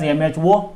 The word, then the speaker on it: mho: This can also be written as MHO, mho you can pronounce, and the SI unit of conductance will be Siemens here.